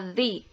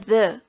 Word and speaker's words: the: fresh itu segar selanjutnya Z memiliki dua cara pengucapannya pertama di dibaca ketika kata benda yang mengikutinya berbunyi vokal di awal kata yang kedua Ze dibaca ketika benda yang mengikutinya berbunyi konsonan di awal kata contohnya disini